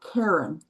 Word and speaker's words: Karen: Is it Karen or Karen? Karen. Karen. My Yeah. sister's name is spelled the same way, but we pronounce it Karen because we're Southern.